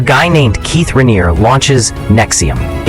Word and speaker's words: NXIVM: A guy named Keith Raniere launches NXIVM. It's pronounced Nexium, like the heartburn medicine, which is honestly perfect because this whole thing makes me sick.